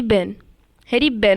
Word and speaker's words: Behn: Okay, Harry बेन। Okay, ई silent हो सकता है उसमें, इसलिए हैरी बेन।